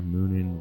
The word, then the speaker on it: Munin: one's called is going to forget how to pronounce it now just have to say it uh um it's moonin and who uh hoogan h-u-g-i-n-n uh they are